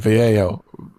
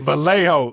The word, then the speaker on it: Vallejo: I got to pronounce the L. I'm so I'm living in Texas. So when I see two L's together, I want to say with a Y sound.